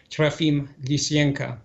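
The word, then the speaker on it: Trofim Lysenko: after the fall of trafim licienca i give him the russian pronunciation of his name because i um i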